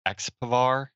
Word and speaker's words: Expvar: How's that package pronounced? Expvar.